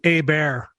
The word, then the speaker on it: Herbert: It's pronounced a bear. A bear. Think about like the Costanza bit from Seinfeld.